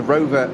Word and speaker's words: Rover: Or Row, as people ordinarily call it, as English speakers, but Rover, as it's correctly pronounced in German. Nothing silent in German, as they say. That's right. So the white, yellow and black Rover BMW now heads down the hill on the Grand Prix Strecke.